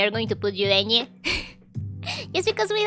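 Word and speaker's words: eñe: So it really depends on you if it's hard or not to pronounce. But yeah, it's Enye.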